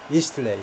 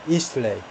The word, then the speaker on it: Eastleigh: 액센트 또는 word stress의 위치가 중요한데 이 고유명사들의 그래서 앞에다 액센트 제1음절이다. Eastleigh, sorry. nearby Eastleigh. 거기 억류를 했다. 이 사람은 suspected, 무엇이라고 혐의가 있다는 겁니다. 뭐하다라고 혐의가 있는. 그러니까 이 40세는 남자를 꾸미는 거죠. Eastleigh를 꾸미는 게 아니고 이